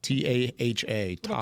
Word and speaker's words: Taha: And apologies if I mispronounced the name here. Taha. T A Ha.